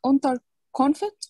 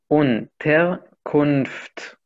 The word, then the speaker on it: Unterkunft: معلش، اسمها أونتر كونفت ولا الإن مش بتتنطق ولا إيه؟ هي موجودة بس كلها ساكنة. أونتر كونفت.